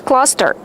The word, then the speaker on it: cluster: How do you pronounce cluster? Cluster. Use the short uh sound like up and fun. Uh uh cluster.